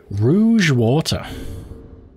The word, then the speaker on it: Rouge: know what amazes me how many people mispronounce Rogue and Rouge just in case you didn't know let's let's use this as an opportunity to have a little school lesson Rogue is g-u-e and Rouge like the color red is u-g-e